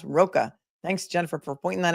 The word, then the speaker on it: Rocca: Also, Steve Roca, her ex-husband, ROCCA, is pronounced Roca.